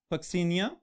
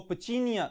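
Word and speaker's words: Puccinia: Fungus का नाम है पक्सीनिया ग्रामिनस. ऑलराइट, अब अगर हम इसको थोड़ा सा और यूरोपियन एक्सेंट में ले जाएं तो इसको पचीनिया ग्रामिनस भी कहा जाता है, लेकिन हम अपने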